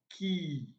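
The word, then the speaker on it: quay: vowel sound e so this word is pronounced as key don't be deceived by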